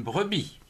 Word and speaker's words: brebis: vs avis oui si on ne prononce pas le s1 avis une brebis alors brebis brf breux